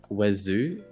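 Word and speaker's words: oiseau: It's like wazoo. I believe that's how you say it. Well, Wazoo. bird in French is wazo. I just add the R sound.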